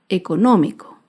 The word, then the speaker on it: económico: una palabra esdrújula es la palabra económico económico se acentúa en la ante penúltima sílaba económico y como se ha